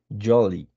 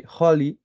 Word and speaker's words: jolly: In the second line, Santa Claus, a bird hefty, jolly. You have to pronounce the J, la J, como una Y, jolly, because it's curious, it's funny, because you say holly and then you say